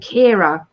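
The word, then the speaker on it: Ciara: friend's name who did the talk is called Kira but the way it's spelled I can't get my head around it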